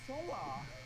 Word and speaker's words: Seonghwa: This is how they pronounce their names. My name is Seonghwa.